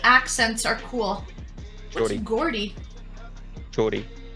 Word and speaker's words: Geordie: Geordie? Geordie. Say it like a J, like a Geordie.